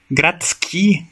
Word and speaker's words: gradski: Solo la D mantiene su escritura antes de S y Sh, como en grad, ciudad, gradski, urbano, shteta, daño, o shteta, compensación, pero las pronunciaciones son con T. O sea, se pronuncia Gradsky o Otsteta.